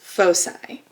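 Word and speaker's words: foci: ellipse and I parola have two focuses which are pronounced fosi so a parabola is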